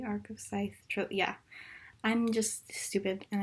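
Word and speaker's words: Arc of a Scythe: editing right now and I feel like that I pronounced the earth of Skype and I also think I pronounce it like that in my may TBR and I just want to say that I'm literally stupid and it's pronounced are those dice the arc of scythe yeah I just stupid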